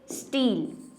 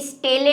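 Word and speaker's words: stele: इसको वैसे हम इस पूरी चीज को बोलते हैं रंभ, स्टील। ये स्टेले नहीं है, इसको स्टील ही कहते हैं।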